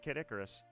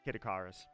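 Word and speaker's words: Kid Icarus: I know the general premise, but I have not played Kiticoras or depending on how you pronounce it, Kitakarus.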